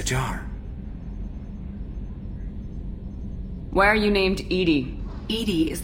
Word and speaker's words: EDI: why are you named Edie Ed is the phonetic pronunciation of EDI that is an acronym for enhanced defense intelligence where are you my